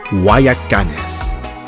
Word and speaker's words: Guayacanes: This place is pronounced Guayacanes. It is a beach town.